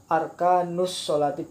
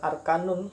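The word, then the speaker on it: أركان الصلاة: Kalau ada kalimat isim dibaca disambung dengan kalimat lainnya, maka tidak boleh ditanwin. Arkanus sholati, bukan arkanun tapi arkanus sholati, contoh misalnya.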